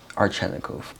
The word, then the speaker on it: Arzhanikov: very special guest ceo entrepreneur investor mr carrero archanakov hello how are you perfect pronunciation of my last name thank you good